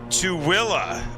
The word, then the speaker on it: Tooele: Oh, it's pronounced Tooele. Oh, Oddpain, thanks very much. Tooele. That's not how it, well, I guess Tooele is how it's spelled, actually.